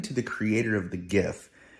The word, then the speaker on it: GIF: the creator of the gif the correct pronunciation is jif with a soft g but did you know